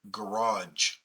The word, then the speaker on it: garage: letters, like the word garage. There are 2 G's in the word garage. The first G is a hard G, the second G is a soft G.